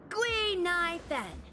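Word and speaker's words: Guinaifen: with an authentic Ceno name based on the pronunciation gu NY Fen gu means finewood NY means to exist and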